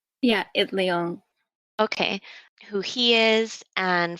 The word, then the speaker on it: Itliong: know how to say his last name, Larry Itliong? Yeah, Itliong.